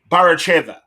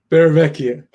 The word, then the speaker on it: Barravecchia: I'm going to say Barravecchiva. Barravecchia. Barravecchia. All right. See, not even close. close. You missed the syllable. That's Barravecchia.